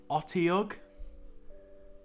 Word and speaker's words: Otyugh: Okay, I don't know how to pronounce it. It's like an Otyugh.